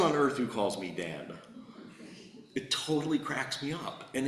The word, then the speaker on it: Denis: to be dentist but I prefer the French pronunciation the one that he gave up when he moved from Quebec to Connecticut and that's Deni I like it because